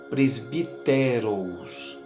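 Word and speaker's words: πρεσβύτερος: A palavra presbítero é uma palavra de origem grega que se pronuncia como presbíteros, que significa mais velho.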